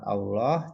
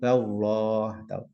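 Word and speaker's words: الله: ulang dari ini ada lafaz Allah jatuh setelah kasrah maka bacanya tipis Dillah tidak boleh tidak boleh bila kalau sebelumnya fathah atau dhomah tebal misalkan Allah dibaca tipis jatuh setelah kasrah kalau jatuh setelah fathah atau rumah dibaca tebal seperti itu kemudian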